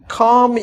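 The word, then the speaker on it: comb: সি ও এম বি এখানে বি এর উচ্চারণ থাকবে না এম পর্যন্ত কম ইউর হেয়ার কম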